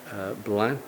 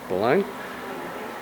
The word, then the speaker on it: Blain: been carefully and meticulously put together to show blood we've been told we're pronouncing it wrong it's pronounced blind and it's been put together to show the